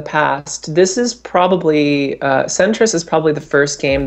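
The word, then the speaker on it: Sentris: working on on how do you say centrus centrus yeah s n t r i s so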